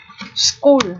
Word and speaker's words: school: cùng xem nhé school school ở đây ch được phát âm là âm như vậy viết là chữ K để phiên âm này